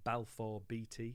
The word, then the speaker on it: Balfour Beatty: construction company and i hope i'm going to pronounce this right balfour beatty have i got that right neil you have